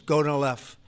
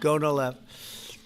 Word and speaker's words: Gonal-F: So it's Gonal-F. Is that a proper pronunciation? Very Close well enough, done. right? Very well done. Gonal-F.